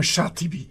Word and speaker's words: Shatibi: Al-Imam Shatibi. Je prononce bien son nom?